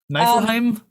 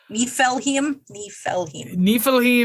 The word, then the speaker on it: Niflheim: Now, how'd you say this pronounced? Because you said it differently than I have it. Niflheim?